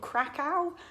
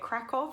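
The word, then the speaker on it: Kraków: Poland, we all went thinking it was called Krakow, which is, I think is how we pronounce it in the UK, but all of the locals were calling it Krakow, so I think we actually went to Krakow in Poland.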